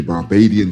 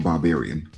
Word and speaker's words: Barbadian: So, my legendary my legendary Barbadian stuffing. Now, when I say Barbadian, I mean Barbados, not barbarian.